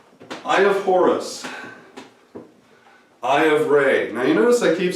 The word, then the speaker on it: Ra: That's because it's not raw, like R-A-W, raw, raw, raw. It's Ray. It's actually Khafre. All these different kings, their names are pronounced with and if they include the suffix it's referential to the sun, then it's Ray, like a ray of sunshine.